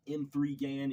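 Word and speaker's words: M3GAN: right so we've had the hit of uh Megan or M3 Gan if you want to pronounce it that way that came out last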